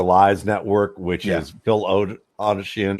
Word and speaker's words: Odeshian: Network, which is Phil Odeshian. It's a Toshin. Rhymes with lotion.